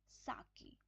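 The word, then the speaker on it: sake: आई कप ऑफ साके आप इसको सेक नहीं बोल सकते इसको साके बोलेंगे साके पॉपुलर जापनीज ड्रिंक ये जापनीज ड्रिंक है सा की इसको प्रोनाउंस कैसे करेंगे इसका इसको प्रंस कैसे किया इसमें सा सा जैसे हम फा फादर फादर फादर तो वैसे सा ठीक है तो ये साके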